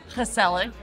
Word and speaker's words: gezellig: Dutch words to know, and that word is gezellig.